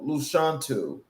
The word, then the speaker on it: Lashawnte: My name is um Luchantu from the womb to the woman. So that is the phonetic way of saying my name.